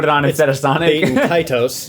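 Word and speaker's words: Baten Kaitos: Bait and Kaitos. There you go, Kratos, that's yeah. it. That's how you say it.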